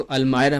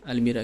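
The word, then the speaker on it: almirah: Lean against the अलमायरा, इसको अलमायरा pronounce करते हैं ना अलमीरा की जगह।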